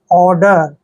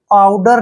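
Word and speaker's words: odour: करना clear next word O डी ओ यू आर देखिए ओ का उच्चारण हम क्या कर रहे हैं ओ और यहां पर देखिए डी का उच्चारण ड कर रहे हैं और ओ यू आर का उच्चारण यहां प य जो है साइलेंट रहेंगे और आर को हम र पढ़ते हैं ऑर्डर ऑर्डर आडर नहीं पढ़ना है ऑर्डर पढ़ना है ऑर्डर मींस होता है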